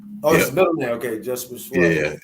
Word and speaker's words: Schwabe: Okay, Jesper yeah, Schwabe. yeah. It's spelled SCHWABE.